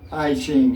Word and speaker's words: I Ching: I Ching is spelled I-C-H-I-N-G. I Ching is called I Ching.